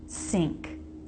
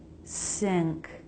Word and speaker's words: sink: time with ing words, the I vowel is a little tighter. It's closer to E, so it's not I, si, sink, but E, si, sink, sink.